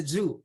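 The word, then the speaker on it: jus: go dial with the jew okay jew this is the j-u-s but you pronounce it jew okay zoo is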